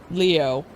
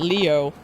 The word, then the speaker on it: Leo: Uh, it's written with the kanji for lion. Oh, it's pronounced Leo. Okay. I wager you are impressed. So he's he's just really doubly silly. So, he actually pronounces it Leo.